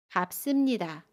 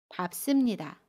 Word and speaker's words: 밟습니다: 그래서 밥습니다는 밥습니다 라고 발음해요. 겹받침 리을 비읍 중에 두 번째 받침 비읍을 발음해요. 그래서 밥이라고 발음하고요. 습은 씀으로 발음합니다. 밥습니다.